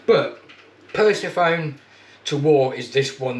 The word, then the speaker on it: Persephone: pronounce the name, it's Persephone to War. What the hell Persephone, where that come from I do not know. You know, I mean, there's no phones in it at all. But Persephone to War is this one that I've got here.